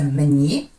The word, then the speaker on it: мына: Пишется мне, а произносится мне. Как будто после «н» мы говорим звук «э», «мне».